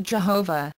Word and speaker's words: Jehovah: speculation and philosophical argument yhwh sometimes pronounced Jehovah is taken to mean